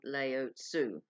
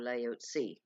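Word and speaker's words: Laozi: very well-known ascended master called layout su or layout C and some people pronounce it and he was obviously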